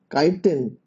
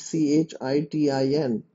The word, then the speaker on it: chitin: prison made up of a nitrogenous polysaccharide called chitin and you spell it c-h-i-t-i-n c-h-i-t-i-n and that's called chitin nuclei is surrounded